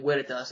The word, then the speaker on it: Veritas: Veritas, what's up? Forgive me if you don't like me pronouncing your name Veritas. I just like to go with the original Latin pronunciation because I took Latin